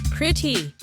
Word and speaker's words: pretty: 프리티가 프리리처럼 워터가 워러처럼 들린 적 있죠? 그건 바로 플랫티 발음 때문이에요. 오늘은 이걸 대표하는 세 단어 pretty water butter 예문과 함께 살펴볼게요. 첫 번째 pretty 미국식 프리 두 번째 water 미국식 water.